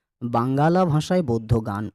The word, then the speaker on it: বাঙ্গালা: 1000 বছরের পুরানো বাঙ্গালা ভাষায়, নট বাংলা ভাষায়, বাংলা ভাষায় নয়, বাঙ্গালা ভাষায়। বাঙ্গালা ভাষায় বৌদ্ধ গান ও দোহা, ব আকার উময় গো আকার লো আকার, বাঙ্গালা।